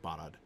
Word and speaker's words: Barad: Technically, it's stress on the first syllable. But it's not a long vowel, really. They're both kind of short ah vowels there. So, Barad.